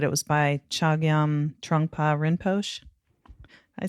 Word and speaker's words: Rinpoche: And it was, I don't know if I'm going to pronounce this right, but it was by Chogyam Trungpa Rinpoche. I say that right? No, yeah, Rinpoche.